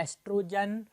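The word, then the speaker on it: oestrogen: ये दो female sex hormone बनाती है, एस्ट्रोजन और प्रोजेस्टेरॉन। ओ को साइलेंट पढ़ना, एस्ट्रोजन और प्रोजेस्टेरॉन दो फीमेल हार्मोन को सीक्रेट करता है।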